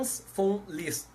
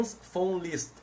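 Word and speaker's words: von Liszt: mundo jurídico por FR F list gravem bem esse nome FR F list se escreve Von com v Mas como é alemão se pronuncia F então é france list como também Ernest Von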